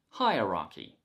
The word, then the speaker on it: hierarchy: improve your accent and today's word is hierarchy hi rocky hi uh ra key the stress is on the first syllable hair key hierarchy hierarchy